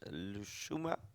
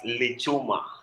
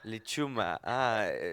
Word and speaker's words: Lichuma: So the next comrade is Lushuma. If I pronounce it wrong, please correct me. Yeah, it's Lichuma. Lichuma.